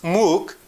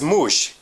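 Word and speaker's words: موږ: We pronounce muk M-O-O-N-G. It is important to notice that we also can pronounce muk in Pashto as mush.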